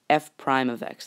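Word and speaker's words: f′(x): right here we have f prime of x that's how you say it f prime of x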